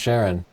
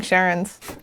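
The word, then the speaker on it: Charon: This is, and Siobhan says it's pronounced Sharon, so I'm trusting her.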